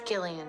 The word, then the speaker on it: Gillian: and she goes it's Gillian Gillian Jacobs it's Gillian this is Gillian Jacobs thank you oh so